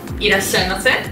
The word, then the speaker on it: いらっしゃいませ: いらっしゃいませ Yes. Do they? Yes. What does that mean again? Welcome. いらっしゃいませ。 Yeah. Wait, how do you say it one more time? いらっしゃいませ。 Yashimase?